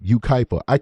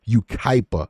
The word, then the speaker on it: Yucaipa: a long time where you know how to pronounce their crazy names like Yucaipa. I would have never known how to say that unless I was covering this case. I'm proud of myself. Yucaipa.